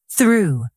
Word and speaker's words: through: Through. This one is tricky. The th is soft, and the off sounds like oo.